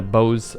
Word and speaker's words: boughs: Make no mistake, bough of a tree and doe is spelled identically, however it is pronounced differently, because why the hell not?